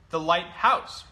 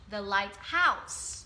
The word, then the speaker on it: lighthouse: Vậy có một điều rất đặc biệt là thầy ấy nhấn trọng âm vào âm 2 nếu những từ này là từ đơn lẻ.